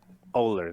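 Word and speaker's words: Ohler: He's got Andrew Oler. Oler. There you go. He's got like an H in there, confuses me.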